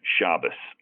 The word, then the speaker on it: Shabaz: Uh the the way my grandfather uh pronounced it was like the Z was like an S, Shabazz.